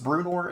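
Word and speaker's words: Bruenor: I think this is Brunor is how you'd say that.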